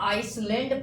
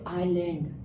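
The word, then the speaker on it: island: तो बताइए आइसलैंड पढ़ेंगे कि आइलैंड।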